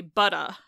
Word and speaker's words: butter: in many British dialects, they just drop that R off entirely and replace it with a vowel. So you could say butta. Yeah, because they're like non-rhotic, right? So right. So if they drop their R's, or like New England, a lot of accents in New England drop their R's. So you'd say butta, and you're replacing the R with a vowel.